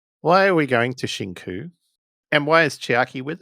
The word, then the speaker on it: Shinku: Shinku? Spell it. Chinku. Shinku. Z-I-N? I think you have to spell Yes. it. Shin. S-H-I-N-K-U.